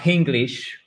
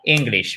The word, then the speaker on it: English: Et pas English. Il n'y a pas de H aspiré, pas de H tout court. C'est vraiment English, mais avec le stress, c'est-à-dire l'accent tonique sur la première syllabe.